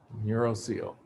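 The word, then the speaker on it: neurocoel: the neural seal right the o is silent neural seal brain is going to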